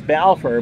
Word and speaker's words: Balfour: that's a great name this pronounce Balfour but it looks like ball four lend us a kappa